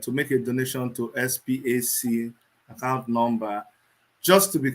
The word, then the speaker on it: SPAC: Yes, SPAC is pronounced SPAC, as in SPAC.